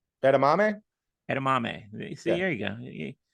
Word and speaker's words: edamame: ER m is that is that how you pronounce it how's it spell e d a m a m e edamame edamame see here you go you're you're you're